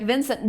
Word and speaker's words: Vincent: It's like Vincent there. There you go. I am talking about the the the French pronunciation. Yes, the T is now. It is silent.